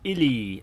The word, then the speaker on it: ELE: Andrew Dot says that would be an ELE, pronounced ILI, extinction level event.